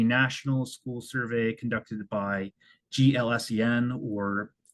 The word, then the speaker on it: GLSEN: So next is Koskik et al., which is the National School Survey conducted by GLSEN, or it's pronounced GLSEN, if you want to say that instead of GLSEN.